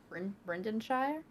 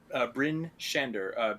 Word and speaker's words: Bryn Shander: You said this was Brendanshire? Bryn Shander, BrynShander.